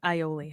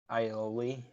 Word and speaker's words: aioli: It's aioli, honey. Aioli. Aioli. But there's an A. I know. It's confused. It's confusing. I hate silent letters.